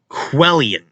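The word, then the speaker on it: Cuilén: We're going to find out how to pronounce that name because I cannot figure it out. Culain. And all these names. Quellian.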